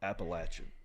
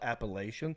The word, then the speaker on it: Appalachian: that's not how they pronounce it that school pronounces it Appalachian yeah right go to Appalachians State and call it appellation they will laugh your ass off the mountain